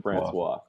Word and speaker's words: Francois: is it Ricky Jean France Francois there you go yeah Francois he pronounced that Francois and then the two